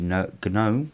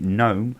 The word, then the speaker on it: GNOME: it's 3.30.1, and events is the GNOME or GNOME, however you want to pronounce it. I'm English, I pronounce it GNOME as in garden gnome.